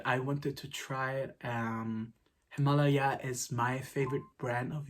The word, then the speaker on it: Himalaya: Yeah, I just realized I said Himalaya for the whole video, but the pronunciation is Himalaya.